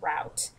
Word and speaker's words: route: people say root and some people say route um has nothing to do with accents it's just a different phonetic way to pronounce the same word we also have semantics